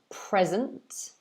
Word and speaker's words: present: the noun it's pronounced present present um as you can see the stress is on the first syllable pray it could mean